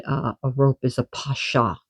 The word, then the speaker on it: pasha: So, the word I was looking for with the snake that she made uh a rope is a pasha. P a s h a pasha or p a s with a hyphen on